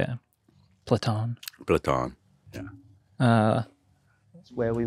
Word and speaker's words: Platon: Platon.